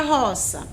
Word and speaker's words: roça: E da palavra roça? Quantas sílabas ela tem? Ela tem 2 sílabas, olha só. E a sílaba mais forte é a penúltima sílaba, né? O ró. Isso faz com que seja uma paroxítona. Como é que eu sei? É só chamar a palavra. Olha só. Roça. Eu me prolonguei mais no ró.